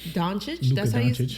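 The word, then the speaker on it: Dončić: Doncic.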